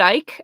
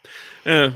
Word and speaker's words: Icke: So Speaking of reptiles, so apparently, like the libertarians have gone like full on, like they had David Icke at their like convention.